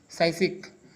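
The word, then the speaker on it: psychic: साइसिक। साइसिक का मतलब क्या होता है? Strong mental power. जो दृढ़ मानसिक वाला व्यक्ति होता है दोस्तों उसको क्या बोलते हैं? साइसिक। दोस्तों यहाँ पर पी साइलेंट है।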